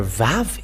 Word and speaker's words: vav: let's show it but the letter VAV is V indeed we can see it it is bigger on the screen VAV it is pronounced as V and it's in the